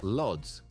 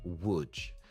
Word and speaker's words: Łódź: On paper, it looks like Lodz. In reality, it's pronounced more like Łódź.